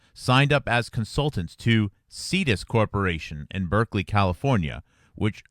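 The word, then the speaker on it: Cetus: Lederberg and Cohen, the Stanford colleagues, signed up as consultants to Cedus Corporation in Berkeley, California, which sought to capitalize on gene splicing activities.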